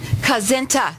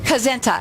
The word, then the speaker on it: Kazenta: Kazenta, that's it. It's almost like Kazentite, but Kazenta.